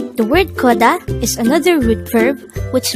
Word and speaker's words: 걷다: hangover word number 68 the word coda is another root verb which means to walk